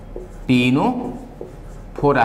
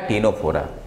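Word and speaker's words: Ctenophora: टीनोफोरा सी silent है, सी को हम लोग प्रोनाउंस नहीं करते, हम लोग सीधे बोलते हैं क्या? टीनोफोरा।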